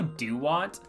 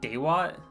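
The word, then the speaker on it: Dewott: Also, Dewat. I called it Daywat, and everyone got really mad at me about that too.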